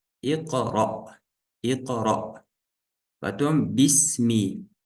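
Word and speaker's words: اقرأ: Здесь стоит васля, мы сказали, в начале чтения читается. Здесь огласовка будет и, потому что в третьей стоит а. И мы сказали, если в третьей стоит а или и, то в начале будет и. Икра.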